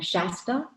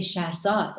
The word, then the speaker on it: Shahrzad: They called her Shasta. They called her Shirzad. They called her Shaza. Nobody could say Shahrzad. And I was like, it's not that hard.